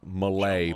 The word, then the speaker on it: Mullet: It's actually Malay, but the T is silent.